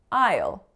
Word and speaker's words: I'll: And you looked this up online and the dictionary told you that it's pronounced as I'll. aisle. So the same word as the bride's gonna walk down the aisle.